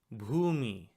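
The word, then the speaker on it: भूमि: And if you listen carefully, you'll see that this word also has two syllables. Bhu and me.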